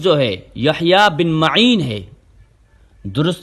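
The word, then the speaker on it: یحییٰ بن مَعین: تو یہاں سے یہ بات واضح ہو گئی کہ درست تلفظ جو ہے یحییٰ بن معین ہے. درست تلفظ جو ہے وہ یحییٰ بن معین نہ کہ یحییٰ بن معین ہے.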